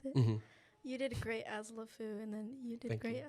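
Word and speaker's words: LeFou: yeah I would say I would say cogsworth lfu is how you pronounce it you did great as lefu and then you did great as the chair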